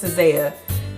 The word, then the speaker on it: SZA: Everybody say her name is SZA, but her name is SZA.